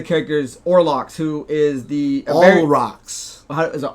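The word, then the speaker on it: Olrox: So moving into one of the other characters, Orlox, who is the All rocks. Is it All Rocks? It is all rocks, and I only know that because I've always pronounced it Orlox and never gone back and looked it up.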